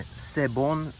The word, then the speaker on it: C'est bon: all right good morning this is my sebon tree uh so ese bon is it's spelled like that it's french uh and it means it's good in french so hopefully uh the